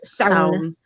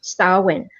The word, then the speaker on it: Samhain: Usually in Irish, it's sound. It's solid one word, like clown, but with an S. It's sound. But in Scottish Gaelic, it's usually pronounced Samhain. So it's two syllables. It's Samhain or Samhain or Samhain. So an A sound or O sound, but it's two syllables.